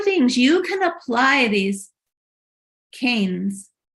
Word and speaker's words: Keynes: you can apply these canes canes pronounced Keynes okay John Maynard Keynes if you want to